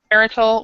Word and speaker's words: marital: how to pronounce it the T is like a D um so here let me write this on the on the board we we was for marital marital we would say marital